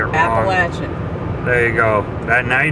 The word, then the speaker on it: Appalachian: not norfolk virginia yeah just don't say the mountain range around here because you're more likely to say it appalachian there you go now